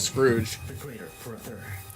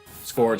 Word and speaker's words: Scourge: I always say Scrooge. No one pronounces his name right. I just... Scrooge is like an actual name, so that's why I think that. I feel like like Scourge makes more sense because he's like the